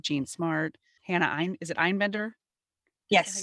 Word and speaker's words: Einbender: Hannah is it Einbender?